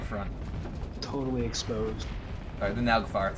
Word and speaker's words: Naglfar: Sorry, the Naglfar. It's a Freya variant. I didn't realize that. How do you pronounce that? That's... Naglfar?